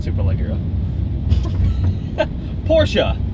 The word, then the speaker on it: Porsche: not super low girl Porsha not American just say Porsche I think it's actually the Germans actually put on something fortunate yeah like eh Porsche it they say it different but it's not Porsche it doesn't rhyme with porch no it's definitely not a porch and it is not